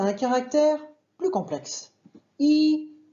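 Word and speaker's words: 一: On les prononcera deuxième ton pour Iding et quatrième ton pour Iti. Mais alors quand c'est qu'on va prononcer I au premier ton? Eh bien tout simplement quand on va compter.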